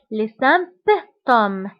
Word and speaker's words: symptômes: الأعراض هما les symptômes les symptômes فانتبهوا هنا بي كنطقوها كنقولوا les symptômes les symptômes هما الأعراض، يعني أي مرض كيكون عنده أعراض وهاد الأعراض كيتسموا les symptômes.